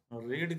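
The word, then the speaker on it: read: Being का प्रयोग करते हैं और फिर रीड की थर्ड फॉर्म जिसका प्रोनाउंसिएशन हम रेड बोलते हैं, थर्ड फॉर्म हो जाएगी।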